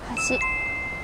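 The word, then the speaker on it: 橋: Hashi.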